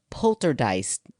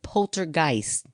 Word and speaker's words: poltergeist: just said it twice polter dice I said a polter dice instead of poltergeist in this week's episode